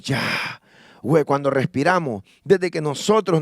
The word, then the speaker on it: Yahweh: Dios en en hebreo es Yahweh y dice que es el nombre nosotros lo lo pronunciamos ya güey cuando respiramos desde que